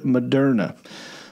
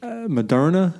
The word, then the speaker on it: Moderna: Her card misspelled the word Moderna.